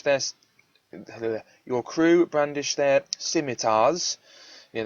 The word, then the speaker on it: scimitar: your crew brandish their scimitars yeah that's actually pronounced scimitar um yeah but your